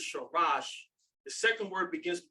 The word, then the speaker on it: Sharash: That's the Shah sound. Head of the man is the Ra. First word is Sharash.